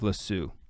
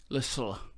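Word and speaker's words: Lisieux: Saint Teresa of Avila and Saint Torres of lassoo Lissa thank you for that correct pronunciation yes especially Saint John of the Cross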